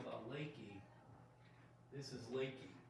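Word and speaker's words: Leakey: Never ever say, oh, you live in Lakey. Not good. You want to pronounce it Lakey, even though it looks like Lakey.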